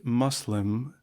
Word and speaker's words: Muslim: I have used the word Muslim m o s l e m in preference to Muslim m u s l i m as most Europeans unacquainted with Arabic pronounce the u in Muslim as in public.